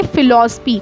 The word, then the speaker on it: philosophy: पढ़ेंगे तो क्या पढ़ेंगे, फिलॉसफी, क्या पढ़ेंगे, फिलॉसफी। तो यहाँ पर जो पीएच है ना उसको हम फ प्रोनाउंस कर रहे हैं, फिलॉसफी, फ का उच्चारण आ रहा है।